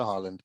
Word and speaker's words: Haaland: He's more expensive than Erling Haaland that's going to Man City. I don't even know how to pronounce that guy's name.